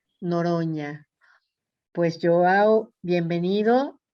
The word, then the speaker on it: Noronha: Noronha. Noronha, La NH en portugués es como la ñ con tilt. Noronha.